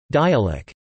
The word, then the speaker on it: dialect: It is referred to locally by terms such as dialect, pronounced dialect, Anguilla talk or Anguillan.